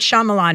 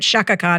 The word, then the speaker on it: Shyamalan: you co-wrote with might Shyamalan, who I used to call might Shakan until I could figure out how to pronounce his name properly.